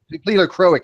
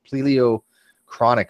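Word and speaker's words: pleochroic: Pleiocroic halos. He mispronounced this. Pleiocroic halos. That's how you pronounce it. He calls it pleiochronic or something. I don't know. It's pleiocroic.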